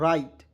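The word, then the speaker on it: write: बिल्कुल गलत तरीका दोस्तों डब्लू को साइलेंट करेंगे आर आई टी ई को क्या पढ़ेंगे दोस्तों राइट डब्लू आर आई टी को क्या पढ़ते है दोस्तों राइट ना कि राइट क्लियर राइट मीस क्या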